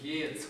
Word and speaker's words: Geertz: La pronuncia sempre, lui dice si pronuncia la tedesca, perché era di origine tedesca, no? Quindi dovrebbe essere Geertz, qualcosa del genere.